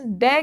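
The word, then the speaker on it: the: यदि द का use consonant sound से पहले हो तो द का प्रोनाउंसिएशन द होगा।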